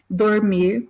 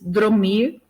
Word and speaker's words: dormir: Então, quando a gente ouve alguém, em vez de dizer dormir, diz dromir, né?